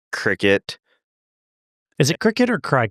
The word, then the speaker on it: Cricut: I think this is Jenna's like Cricut. Is it Cricut or Cry Cut? It's Cricut, but it should be Cry Cut. Like that's how it looks, but it is Cricut.